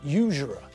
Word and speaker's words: usurer: you notice the word usurer that's the same type of word as university and uniform because we pronounce the first letter as you not ooh we use a consonant